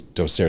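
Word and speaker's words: docere: the Latin word La doser I think it's doser is the correct pronunciation is the same for a little over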